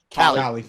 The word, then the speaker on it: Calais: that we were going to go further towards Calais, right? Or did I say it right? Calais.